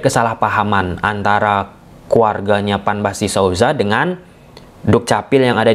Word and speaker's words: Sousa: tetapi secara substantif bagaimana keinginan dari keluarga ataupun lingkungan-lingkungan Sauzza ini untuk hanya menggunakan pelafalan Sauza.